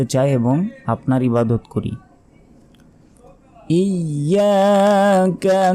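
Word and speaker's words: إِيَّاكَ: বিচার অর্থাৎ বিচার দিবসের মালিক মালিকি ইয়াউমিদ্দিন ইয়াকা নাবুদু ওয়া ইয়াকা নাস্তাাইন ইয়াকা আমরা অনেকে বলি ইয়াকা ইয়াকা নয় দেখুন ইয়াকা নাই এখানে ইয়ার অক্ষরের উপর তাজদিদ আছে তাসদিদের উচ্চারণ দুইবার পড়তে হয় এখানে উচ্চারণ হবে হামজা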